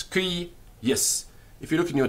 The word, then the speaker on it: cuius: If you look in your dictionary, you will often find a line over the first u. Now this line over the first u is telling us the syllable is long. In other words, it ends in a consonant. And the second syllable is also long. But it's spelt with one I. So the line is not telling us the vowel is long. It's not cuius, it's cuius.